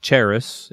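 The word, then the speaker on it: χάρις: that we know as Grace or cheris in the Greek uh that's how you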